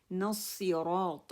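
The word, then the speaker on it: الصراط: اسی طرح نصراط المستقیم، نصراط اب اس کو جب ہم کریں گے نون ہے اس کے ساتھ الف ہے، اس کو لمبا نہیں کریں گے، الف کو ڈراپ کر دیں گے، لام کو ڈراپ کر دیں گے. کیونکہ صاد کے اوپر جو ہے شد آ رہی ہے، ہم نون کو صاد کے ساتھ ملائیں گے اور را کو موٹا کریں گے.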